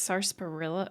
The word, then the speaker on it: sarsaparilla: Nuka-Cola is Sunset's, I think it's sarsaparilla.